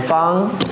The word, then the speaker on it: Fang: call it because no one could actually pronounce her name Fung f-a-n-g is like whatever but um but uh when I met her she was like no call me Fung um I I don't